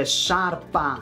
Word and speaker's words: sciarpa: I know, my English-speaking friends, life is hard when you want a sciarpa and not a scarpa.